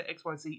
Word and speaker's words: Xyz: Silver Dragon the new ex monster some people say XYZ it's ex people I think they do pronounce it that way in z um or